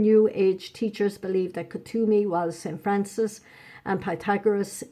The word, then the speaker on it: Kuthumi: Kuthumi, it's pronounced, was a Sikh spiritual leader named Sirdar Thakur Singh Sadhwali, who lived in India during the 1800s.